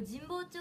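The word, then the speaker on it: 神保町: て言った方はこれ神保町って読むんですね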